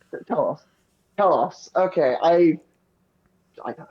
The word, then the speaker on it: Talos: Taos. Totally pronounced that correctly. Talos.